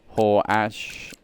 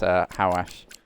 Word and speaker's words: Hawash: If you need any help pronouncing names, Hawash for so long it was Horash, Hewash, Hawak. I did everything, mate. I was everywhere. It's Hawash.